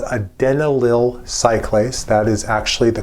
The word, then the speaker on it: adenylyl cyclase: Nearby the G protein is a membrane embedded enzyme, not a receptor, but an enzyme that's called adenylyl cyclase. That is actually the correct pronunciation.